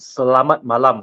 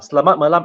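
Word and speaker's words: Selamat malam: CH can you pronounce that this is actually pronounced Salat malam slat malam actually means good night slamat meaning good and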